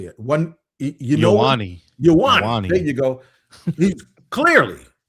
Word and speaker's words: Ioane: Ioane.